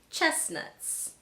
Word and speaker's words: chestnuts: Other common words in the English language with a silent T: mortgage, Christmas, chestnuts. These you'll just have to memorize.